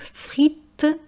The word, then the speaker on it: frit: Le verbe frire, le nom au pluriel frites, l'adjectif frit qui peut faire également frite au féminin, et friture qui est donc un nom. Frit, adjectif, je ne prononce pas le T, s’accorde en genre et